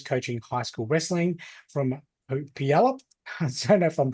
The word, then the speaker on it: Puyallup: With a decade of experience coaching high school wrestling from Puyallup, I don't know if I'm pronouncing that correctly at all, in Washington State, is Bryce Evans.